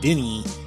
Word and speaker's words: Dini: Now, I need to correct something real quick, and that is that Steve doesn't pronounce his last name Dini like I do, D-I-N-I, Dini. He pronounces it Dini.